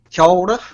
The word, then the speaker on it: kia ora: Well, that is correct, and it's kia ora is how it's pronounced.